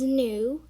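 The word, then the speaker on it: knew: word we have is nu and um you pronounce it as n-e-w not new because the k is set um the tenth word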